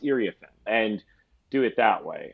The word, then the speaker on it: Iriafen: Or in the case of Kiki, who we all thought was Iriafen, and then we realized it's Iriafen. To be able to say, hey, Kiki made clear before the start of the season, it's actually pronounced Iriafen.